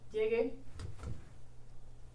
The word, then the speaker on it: llegue: If you were to just switch over to the A, you would have, or the E, you would have llegue. So to preserve the hard G sound, you add a U.